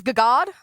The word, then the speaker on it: Gagad: Is that how you pronounce it? It's Gagad? I thought so.